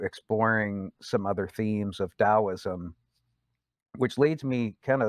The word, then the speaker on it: Taoism: some basic themes of taoism and explain why we say taoism with a d sound and why we spell